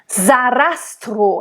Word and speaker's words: Sarastro: Sarastro, and make sure it's a voiced S in the name Sarastro. It's not Sarastro. Za. It's like an English Z. Z. It's voiced. Sarastro. And make sure the O at the end of the name is closed.